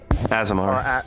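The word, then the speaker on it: Aasimar: Is it Asimar or Asimar? Azamar. Azamar.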